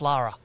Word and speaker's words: Laura: It's spelt Laura, pronounced Lara.